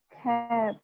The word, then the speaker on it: cap: Cap. Cap. Cap. Cap. Cap. Tapi cepat cap. Bisa, betul. Ini bacanya adalah cap.